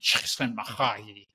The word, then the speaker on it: Csikszentmihalyi: And he went, "Csikszentmihalyi," very guttural.